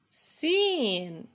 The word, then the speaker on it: س: Sin. Sa, sin, sin, sa, sin. Sin is the counterpart of the English letter S in the word sound.